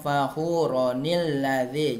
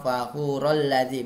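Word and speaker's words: فَخُورًا الَّذِي: Jadi bacanya muhtalan fakhuronil lazi. Jangan cara bacanya kalau diwasalkan seperti ini nak ya. Muhtalan fakhurol lazi, bukan, tapi ronil lazi.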